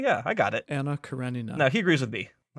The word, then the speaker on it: Anna Karenina: at the end karenina anna karenina yeah it's the knee the knee gives you the it's called it's like a diphthong and there's no y in that pronunciation well of course it's